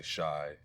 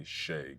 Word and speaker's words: Shai: I know some people say shy. It's It's definitely Sheay.